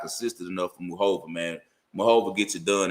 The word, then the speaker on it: Muchova: It looks like Muchova, but it's Muchova.